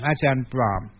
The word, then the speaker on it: Ajahn Brahm: Ajahn Brahm. Always remember there's an M on the end. Otherwise it sounds like ladies' underwear.